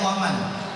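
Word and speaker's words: ومن: Kalau di apa di dalam bahasa Arab bacanya waman.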